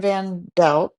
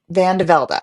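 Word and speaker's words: Vande Velde: Well, we have CVV, which is Christian Vanel. Vanlda. Van DeVlda.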